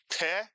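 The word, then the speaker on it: פה: Another Hebrew word, one syllable, with the pei. How do you read this word? Peh is right, peh.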